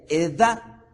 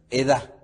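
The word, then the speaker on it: עדה: Aparece la palabra hebrea Edah. Sería acentuada, o mejor dicho, con una fuerza en la última, en este caso, sílaba. Entonces sería la palabra, como la podríamos pronunciar, sería Edah.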